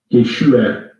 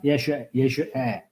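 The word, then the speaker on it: ישוע: 그다음에 그 위에 있는 단어는 예슈아. 예슈아. 예, 우리가 보통 알고 있는 예수님의 오리지널 발음이에요. 네. 예슈에. 영어식으로 표현하면 예슈아. 네? 예슈아. 예슈. 근데 아가 아니라 사실은 에예요. 예슈에.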